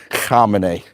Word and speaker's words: Khamenei: Per Per Per Per Sesquian, I believe is how you pronounce his name. And Ayatollah Khamenei. Khamenei.